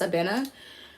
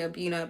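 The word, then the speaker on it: Abena: my other best friends her name is abina but when you say when you say it like how it's supposed to be said it's a bena um but americans you know we accent country as we all we all say abuna but it's actually even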